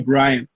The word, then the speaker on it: Bryant: eu chamo ele de Bryant, porque coisa de irmão. Se fosse pela pronúncia certa do nome dele, seria Brian.